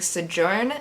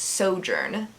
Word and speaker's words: Sojourn: I was saying Sojourn, and it's Sojourn.